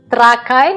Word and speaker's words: Trakai: Trakai. It's trakai. Trakity. Trakai. Trakai. Trakai. We put accent on the beginning.